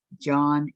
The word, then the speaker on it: Jean: I will and my name is pronounced John in French Orlando is becoming a